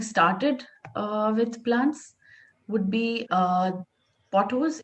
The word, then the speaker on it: Pothos: who's just getting started with plants would be pothos. It's also called devil's ivy. Devil's ivy. And what's the other name? Golden pothos.